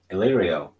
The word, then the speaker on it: Illyrio: When Arya is stalking Varys, and I always say his name wrong. Illyrio. Oh shit! How do you say that dude's name? Illyrio.